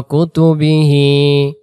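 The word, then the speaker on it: كتبه: আমানতুবিল্লাহি ওয়ামালাইকাতিহ ওয়ামালাইকাতিহ ওয়া কুতুবিহ কুতুবিহ ওয়া কুতুবিহি কোন টান নাই শুধু এখানে হি টান দেব হি হি শব্দের অর্থ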